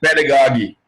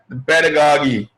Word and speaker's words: pedagogy: Americans will call it pedagogy. Pedagogy. I was talking to an American ambassador to Nigeria, and I kept pronouncing like a Nigerian, pedagogy.